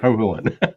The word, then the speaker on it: Hohulin: Which is pronounced as in no fooling, right? Right. Hohulin.